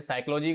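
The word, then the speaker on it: psychology: मनोविज्ञान का जो शाब्दिक अर्थ है जिसे साइकोलॉजी कहा जाता है। ठीक है? इसमें पी साइलेंट होता है बेटा।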